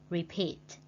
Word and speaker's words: repeat: Number 2, repeat. Repeat. Repeat means lặp lại. And we put the stretch mark on the second syllable.